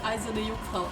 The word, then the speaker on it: Eiserne Jungfrau: First Let's Player in history to correctly pronounce Eiserne Jungfrau. That's because I'm German. I'm half German. Battler jumped. I'm half German and Eiserne Jungfrau is a German word.